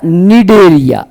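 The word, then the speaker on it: Cnidaria: Porifera के बाद आता है बेटा निडरिया। यहां पे ध्यान रखने योग्य यह बात है कि निडरिया के अंदर सी जो है वो साइलेंट है।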